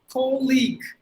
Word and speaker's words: colleague: it as colleague it should be a long sound so cold league that is all we